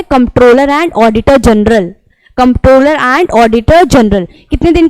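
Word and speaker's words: Comptroller: shell appointed by डी कॉम्प्ट्रॉलर and auditor general कंट्रोलर इसको नहीं pronounce करेंगे दिस इसे नॉट कंट्रोलर दिस इस कम पैट्रोल ठीक है सी एंड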